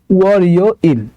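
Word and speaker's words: 월요일: এর জায়গায় চলে যায়, তাহলে এইটার উচ্চারণটা হবে ওয়া রিও ইল, ওয়া রিও ইল, কারণ এই রটা বাচ্ছিমের জায়গায় চলে যাবে। ঠিক আছে, তাহলে এটা উচ্চারণ হবে ওয়া রিও ইল মানে হচ্ছে সোমবার।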